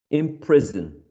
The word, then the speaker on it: imprison: So when we add this specific prefix, we're not stressing the prefix. We're stressing the second syllable.